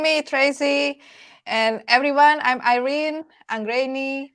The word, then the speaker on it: Irene: And everyone, I'm Irene Anggreeni, or in the Netherlands, and also in my home country, Indonesia, it's pronounced Irene, but I also respond with Irene.